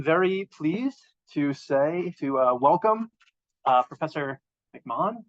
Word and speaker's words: McMahan: I'm very pleased to welcome Professor McMahan. I'm told that that's the British pronunciation as opposed to the less faithful American pronunciation.